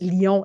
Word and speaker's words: Lyon: Gabrielle, never know how to say her name, Lion, I guess. It is. Lyon in French, Gabrielle Lyon show.